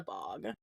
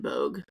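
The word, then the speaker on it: Bogge: So I call it the bog and I call it the bog. It is pronounced like bogey. I guess actually they mix it like bog and bogue depending on how I'm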